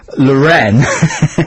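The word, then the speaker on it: L'Wren: and I I think the name of Jagger's girlfriend at the moment is luren luren and it's spelled l apostrophe w n Lauren uh she's a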